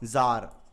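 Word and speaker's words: tsar: जार। TZAR। इसमें जो टी है वो साइलेंट है, इसे जार पढ़ते हैं, जार प्रोनाउंस करते।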